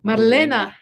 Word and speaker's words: Marlena: pronunciation is difficult yeah in japanese like there's no distinction between l and r which my real name is actually super difficult for japanese people marlena it's m-a-r-l-e-n-a so it's